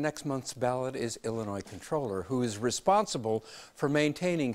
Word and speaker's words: comptroller: the air that the even though it's spelled comptroller that the common usage is controller so let's go with